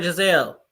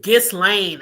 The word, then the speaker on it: Ghislaine: Giselle, why I keep calling her Giselle? Her name is Ghislaine. I think that's how you say it, Ghislaine.